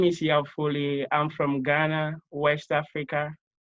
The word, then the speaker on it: Yao Foli: Yao Foli is the director, as I mentioned, of this really neat organization over in Ghana called Indoor Eco Village.